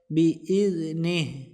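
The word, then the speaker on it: بإذنه: লাটাতে এক আলিফ টান দিয়ে পড়বো আমরা ইল্লা বিজনেহ জালটা পাতলা হবে এখানে যদি দম ফেলি গোল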